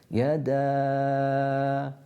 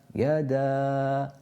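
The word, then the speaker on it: يدا: Yada, yada, opening the mouth, yada, and the lips staying back.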